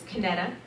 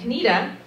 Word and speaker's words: Kinetta: n e TTA and there are three ways that people typically pronounce my name and the first way is the phonetic pronunciation which is caneta and then there's the second way which is the preferred pronunciation which is canita canita and then there's also the very acceptable way that my 4 foot n Taiwanese mother says it and it's canita I'll say it again